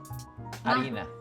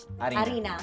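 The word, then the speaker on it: harina: this up Arina Azul Arina Arina you don't pronounce the h okay Arina Azul we're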